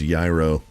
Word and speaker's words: gyro: I've been saying a euro, but it's yro.